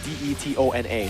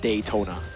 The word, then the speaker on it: Detona: it's it's like it's spelled d e t o n a so it's detona it's not daytona detona detona